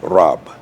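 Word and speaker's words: Rabb: The Arabic word Rob r a b b phonetically, Rob.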